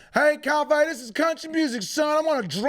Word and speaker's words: Coffey: And Coffey is spelled like coffee with an EY. EY. It's like the drink, only spelled different.